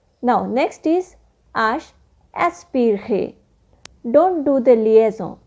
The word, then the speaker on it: H: voyer so let's start vowel h in english but in french we pronounce it ash now here are some examples of the last vowel in french that is ash the letter h in